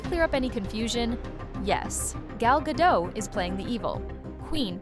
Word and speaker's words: Gal Gadot: Welcome, Rachel, Zegler and Gal Gadot.